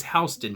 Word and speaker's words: Houston: in the houston area i refused to pronounce it the incorrect texan way i pronounce it the way we do here in central georgia it is housed in damn it so i decided uh